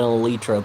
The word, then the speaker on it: elytra: I need to get in the habit of calling it an elytra because that's actually the proper pronunciation.